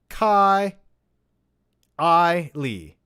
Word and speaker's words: Kylie: uh kylie kylie my name is pronounced ian kai i lee now you know i